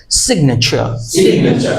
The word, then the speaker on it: signature: বলো এ না ন আমার সাথে বলো ন signature signature sig ch signature signature signature signature দেখো